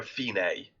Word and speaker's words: Fine: to a character called now it's spelt fine but i but they call her feeney okay so i'm guessing